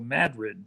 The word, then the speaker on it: Madrid: They call that here in Iowa Madrid.